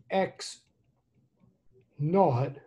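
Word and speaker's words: x₀: on we're going to let x sub zero okay x sub zero we're going to pronounce it x naught like if i ever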